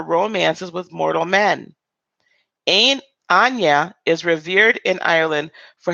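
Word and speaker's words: Áine: goddesses I'm so sorry this Anya is how you pronounce I'm but never Anya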